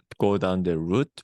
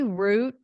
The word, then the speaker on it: route: So don't take the bait and go down the route with me. Yeah, and that's a word you can say route, but I think I more commonly hear it pronounced as route.